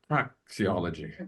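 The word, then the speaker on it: praxeology: Um, as a practiology, praiology, that's the that's the pronunciation.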